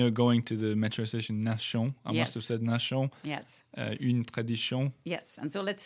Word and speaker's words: Nation: going to the Metro Nation yes yes and so let's say it's in French it's actually this T is pronounced like double s i n yeah absolutely